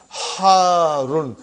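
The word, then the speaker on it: حارٌّ: Harun. Because the shadda is on ra. So you got to pronounce it properly.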